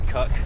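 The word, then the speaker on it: Cuckmere: the cut come here cookmir River there you go I pronounce it is cuck but whatever we're following that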